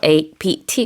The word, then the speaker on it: APT.: APT 이렇게 capitalized 돼서 APT 이렇게 발음을 하기도 하기 때문에 영어로는 APT라고 부르셔도 되고 아파트라고 부르셔도 돼요.